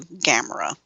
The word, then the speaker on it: Gamera: to camera, they went and changed it to Gamera. Well, if you listen to the theme song, it only has 2 syllables to it.